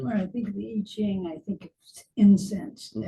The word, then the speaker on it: I Ching: The Book of Changes, you've heard of it, Book of Changes, I Ching. I Ching. Looks like Ching, but it's usually pronounced with a J, I Ching.